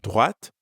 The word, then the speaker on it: droite: And make sure you're pronouncing the t sound at the end of droite.